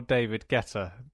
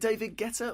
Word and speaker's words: Guetta: well I was gonna say you look more david guetta than robot later no know is who's david